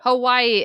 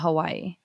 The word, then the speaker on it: Hawaii: Hawaii is also not Hawaii. Yeah, because the W's are V's. Right, but that is in the U.S., I guess.